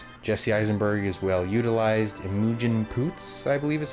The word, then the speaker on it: Imogen Poots: Imogen Poots, I believe is how you say her name.